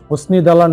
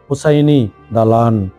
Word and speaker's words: হোসাইনী দালান: উদযাপন করা হয়নি দালানকে হোসনি দালান নামেও বলা হয় ভারতের গায়ে শিলালিপিতে ফার্সি ভাষায় লিখিত কবিতা অনুসারে উচ্চারণ হোসাইনী দালান এটি বাংলাদেশের রাজধানী ঢাকার